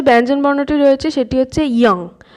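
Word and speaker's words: 이응: এরপর যে ব্যঞ্জনবর্ণটি রয়েছে সেটি হচ্ছে ইয়ং। ইয়ং এর উচ্চারণটা অনেকটা আমাদের যে বাংলার অনুস্বরের উচ্চারণ, একদম অনেকটা নয়, পুরো সেম উচ্চারণ, ইয়ং।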